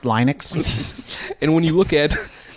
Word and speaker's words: Linux: It's pronounced Linux.